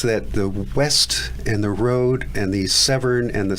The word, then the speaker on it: Rhode: And if people want to donate to the West and Rhode Riverkeeper organization, where can they find out more information?